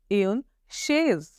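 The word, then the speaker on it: chaise: Okay, तो चेयर को हम फ्रेंच में बोलेंगे एन शेज। एन शेज, CH, the pronunciation of CH इज श, शेज, एन शेज।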